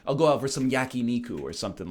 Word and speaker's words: yakiniku: just in case Corey's watching, because I know he's a stickler for the traditional pronunciation. I'll go out for some yakiniku or something like that.